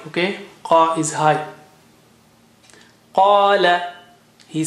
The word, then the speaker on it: قال: Qala. Qa is high, okay? Qa is high. Qala, he said.